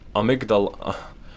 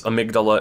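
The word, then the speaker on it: amygdala: I was saying just a minute ago uh amigdala amigdala that's the in-game pronunciation uh in English it's amydala it's part of the brain in Japanese the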